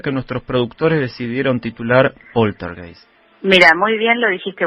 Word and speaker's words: poltergeist: Bueno, poltergeist porque es una palabra, un vocablo alemán, ¿no? Generalmente lo conocemos como poltergeist, pero, Sí. pero se pronuncia poltergeist.